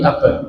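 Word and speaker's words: أبا: Bukan Abu tapi aba abad Darda.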